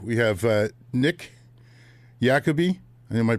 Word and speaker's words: Iacopi: We have uh Nick Yakobe. Am I pronouncing that right? Yakabe. Yakabe.